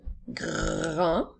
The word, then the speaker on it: grand: Il s'écrit G-R-A-N qui font le son en et la lettre D est une lettre muette. Alors nous avons grand.